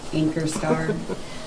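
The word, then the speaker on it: Ankerstjerne: How do you say your last name? Anchor Star.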